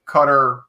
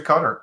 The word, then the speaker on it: Qatar: but thank you for proper pronunciation is closer to cutter okay holly holly and